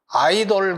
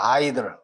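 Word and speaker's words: idols: 우리나라에서 보통 보면 뭐 아이돌 그룹 그래서 아이돌 어른돌 뭐 이런 거 그러는데 돌이 아니고 들이야. 아이들.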